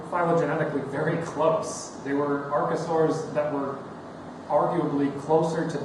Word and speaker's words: archosaur: I keep saying archosaur, but it's archosaur, which makes complete sense because of the word root.